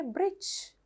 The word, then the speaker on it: bridge: සමහර letters silent pronounce කරන්නේ නැහැ. Sandwich, bridge. දැක්කනේ bridge. එතකොට ඩ එකක් කොහෙවත් ඇහෙන්නේ නැහැ. Sandwich. පුතාලා sandwiches ගෙනියනවා නම් breakfast වලට, lunch වලට ඒක කියනව නේද ඒ වචනේ. එතකොට අපි sandwich කියලා කියන්නේ නෑනේ. අපි කියන්නේ sandwich. එහෙනම් d is a silent letter in this word.